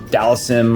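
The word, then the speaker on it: Dhalsim: usually Ken and then Del seem um some people say uh uh Dallas him or whatever but I just call him Del seem and I think he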